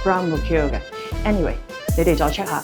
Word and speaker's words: Grand Mercure: It's a French group, so it should be Grand Mercure Please check their correct